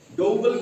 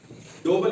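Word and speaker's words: double: जैसे डी ओ यू बी एल इ डबल क्यों नहीं पढ़ते हैं इसको? डोबल इसलिए नहीं पढ़ते हैं क्योंकि ओ यू का कॉम्बिनेशन यहां है।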